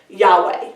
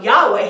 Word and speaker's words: Yahweh: this is the Tetragrammaton which we pronounce Yahweh which actually is unpronounceable yo cave of hey